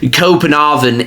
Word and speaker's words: Copenhagen: going to butches but I think it's pronounced copen aen in Danish they formed in 1992